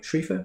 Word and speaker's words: Schriefer: Schriefer?